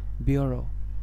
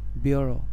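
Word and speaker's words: bureau: next word is বি ইউ আরই এ ইউ বিউরো বিউরো বিউরো মানে হচ্ছে office next word is পি ও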